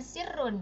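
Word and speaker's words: سِرٌّ: Nah, kalau dia yang satunya itu dia sukun, kemudian di depannya juga ada huruf yang sama, maka dibacanya sirrun ditambahin tasydid ya.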